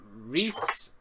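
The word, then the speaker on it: Rhys: And he says it's pronounced Evangeline and Reese were the two names I had problems pronouncing, and he's Evangeline and Reese, I believe.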